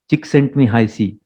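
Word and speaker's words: Csikszentmihalyi: pioneers actually his name is very difficult to pronounce he's also famous for that chick sent me high c mihai sigmund high c is his name he's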